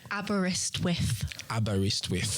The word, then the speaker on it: Aberystwyth: So you're going to teach me how to pronounce that word correctly. Aberystwyth.